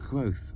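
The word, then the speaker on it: Quothe: It's Quoth, actually, I said absent-mindedly. The E is silent.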